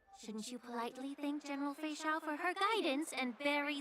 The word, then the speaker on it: Fei Xiao: Fei Xiao. Your health consultation with Chat, we Dragon finally know how to pronounce her name.